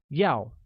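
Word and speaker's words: 要: to cow and is pronounced with a falling tone like Yao while eat translates as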